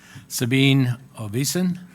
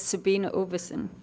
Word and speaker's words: Sabine Oversen: you thank you Megan Sabine obesan did I say that one right no I'm striking out would you pronounce that for me yeah my name is Sabine oversen yeah okay okay let's